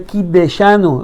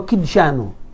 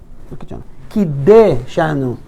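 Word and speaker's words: קִדַּשְׁנוּ: Baruch atah Hashem Elokeinu melech haolam asher kideshanu, lo kidshanu, kideshanu b'mitzvotav, no v'mitzvotav, v'tzivanu al netilat yadayim.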